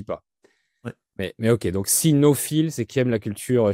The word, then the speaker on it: sinophile: Et tu connaissais aussi parce que tu es, comment on dit, sinophile? Pas cinéphile, mais sinophile, Oui, qui aime la culture cynophile.